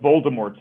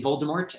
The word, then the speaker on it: Voldemort: is it voldemort right are you going with the french pronunciation and if you ask